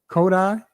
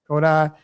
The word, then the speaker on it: Kodai: Kodai. Yeah. Kodai.